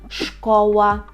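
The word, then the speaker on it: szkoła: є слова Ну наприклад школа школа бачимо так якщо с Z разом то це ш і в нас один звук ш але дві букви до цього треба бути готовим школа це школа рекомендую вам також повторювати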